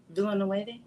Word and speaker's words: Villeneuve: And I'm not sure how to pronounce his last name. You want to give that a try? Villeneuve?